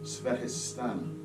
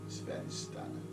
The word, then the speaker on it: Svadhisthana: The Sanskrit word is pronounced Svadhisthana. Svadhisthana.